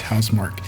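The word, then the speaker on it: Housemarque: They buying HouseMark, or HouseMark, however you want to pronounce it, but it's HouseMark.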